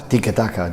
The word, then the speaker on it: tiki-taka: And how do you pronounce it properly? Tik Taka.